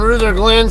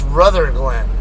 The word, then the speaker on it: Ruther Glen: is the loes and Ruther Glenn speaking of that um my buddy David was telling me I guess the locals pronounce this place R Glen not Ruther Glen so I got curious